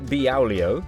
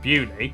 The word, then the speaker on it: Beaulieu: Starting in Biaulio, Beaulieu, head over to Rampisham, Ransom, then down to Mousehole.